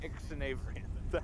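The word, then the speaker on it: Xzavverenin: it's Commander Ixnavrian.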